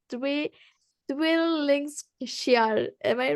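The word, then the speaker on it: Lyng: it's three it will link share am I right I just called her Twee I'm sorry you can call me Lin l-y-n-g-ling okay thank you Lynn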